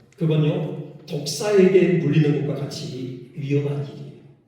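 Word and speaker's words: δόξα: 그 헬라오로 영광이라는 단어가요. 뭐냐? 독사. 예. 실제로 그렇게 발음합니다. 독사예요.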